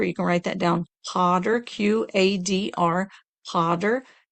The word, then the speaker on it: Qadr: in the transliteration is the first letter is a Q, and that's like a K sound, but it's a little bit further back in the mouth. So Qadr, Q-A-D-R is how that's pronounced, Qadr.